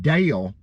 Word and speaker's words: Dale: So I tried to tell people over the years that Dale, hear that, is not one syllable, it's two. Dale, Dale, Dale. It's two, you can hear that.